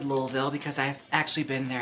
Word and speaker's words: Louisville: Lo and behold, when I was in Louisville, yes, I said Louisville because I've actually been there and that's how they say it there.